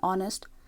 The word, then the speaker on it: honest: The S in Ireland, P in psychology, H in honest, and B in plumber.